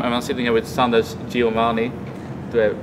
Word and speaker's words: Sundance DiGiovanni: at MLG Anaheim and I'm sitting here with Sanders Giovani do I pronounce it correctly yes absolutely perfect so has